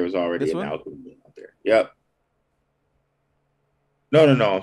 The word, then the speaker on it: ALKIMI: They spell it kind of weird. Because I think there was already This an one? alchemy out there.